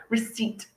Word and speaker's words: receipt: can help you finally another silent letter that is commonly not realized is there is p in receipt okay we don't say receipt but again very difficult to say receipt receipt okay so re-seat now look at my